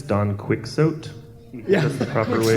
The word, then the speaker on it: Quixote: I believe it's Don Quixote. Yeah, That's the proper way to Quixote, yeah.